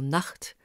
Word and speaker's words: Nacht: Dans notre corpus, CH se prononce ch devant A ou U, comme dans Nacht ou Noch, et ch partout ailleurs, comme dans ich, lächeln, streich et welchen.